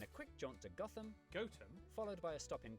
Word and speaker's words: Gotham: sester toaster then a quick jaunt to gotham goatum followed by a stop in kwonmore kwama before